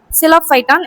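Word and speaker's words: Psilophyton: இது சைலோஃபைட்டனைக் குறிக்கிறது. ஆரம்பத்தில் 'P' என்ற எழுத்து உள்ளது. அது உச்சரிக்கப்படுவதில்லை , எனவே அதை எப்படி எழுத்துக்கூட்டுவது? சைலோபைட்டன். சரி, சைலோஃபைட்டன்.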